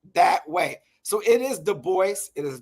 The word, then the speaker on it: Du Bois: And it is pronounced Du Bois, not Du Bois.